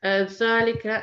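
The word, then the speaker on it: ذلك: Dhalika and hadha are pronounced as dhalika and hadha. Basically, you are elongating it because of an alif that comes after it, but that's not written down.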